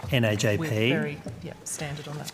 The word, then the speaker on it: NAJP: What's the preferred way of pronouncing the acronym for National Access to Justice Partnership? We have debated this at length, and we use NAJP. NAJP?